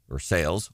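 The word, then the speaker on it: Versailles: West Valley Windsor uh or sales local tip we pronounce the L here all without leaving the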